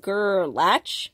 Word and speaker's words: Gerlach: gerlach nevada which somebody recently told me it's pronounced gerlach nevada i didn't know that but tell me